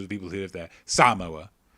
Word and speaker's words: Samoa: father is african-american but where's this mother from samoa and that's how you pronounce it otherwise people think you're racist samoa okay because a lot of people will say samoa you think um you okay great yeah where's